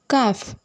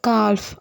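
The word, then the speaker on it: calf: மாதிரி வேர்ட்ஸ் எல்லாம் பார்க்கலாமா ஃபார் எக்ஸாம்பிள் காஃப் இதை வந்து கால்ப் அப்படின்னு நம்ம சொல்ல மாட்டோம் காஃப் காஃப் அப்படின்னா கண்ணுக்குட்டின்னு அர்த்தம் நெக்ஸ்ட்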